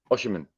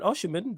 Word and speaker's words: Osimhen: Osimhen. Yeah, I even heard he was a little link for us at one point. 100%. Like, if you go and sign Osimhen, then it's on Jesus to step up.